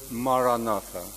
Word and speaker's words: Maranatha: If you choose this word, say it as 4 syllables, Ma-ra-na-tha.